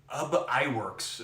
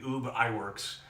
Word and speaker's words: Ub Iwerks: His name was Ub Iwerks. I assume that's how you pronounce it. It might be Ub Iwerks, spelled U-B-I-W-E-R-K-S.